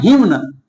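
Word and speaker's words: hymn: इसे सब पढ़ता है हिम्न। हिम्न पढ़ा जाता है, हिम्न।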